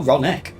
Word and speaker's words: Ronek: deal with the animal Ronic is Reaver. here. How convenient! You spawned it! I suggest you remain here to attend to the Ronek when they arrive. Oh, Ronek. We've been saying it wrong.